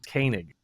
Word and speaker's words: Koenig: talking to someone the other day about a senator in my state, and I said, "So Senator Koenig," and they looked at me and they said, "It's Koenig." I was like, spelled the same, but okay, uh, Koenig.